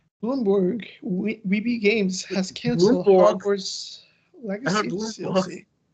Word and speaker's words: Bloomberg: Bloomberg we games has canled legacy. What did I say? I heard you say Bloomborg. Or maybe maybe I misheard you. I apologize. Bloomberg.